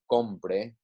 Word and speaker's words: compre: As I said, the yo y usted, el, ella forms of all 3 conjugations have written accents on the last syllable to show that it is stressed, but also it does help us identify that it is different from another word that is spelled the same. For example, compre, compré, right? Compre, compré, okay?